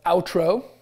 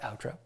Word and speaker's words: Outro: Um, outro is how you say it. like intro but outro and uh honestly what we do is produce introductions.